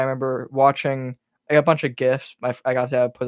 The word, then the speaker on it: GIF: guy who invented it says that they're GIFs, Yeah, but but everyone then you calls them spell it GIFs.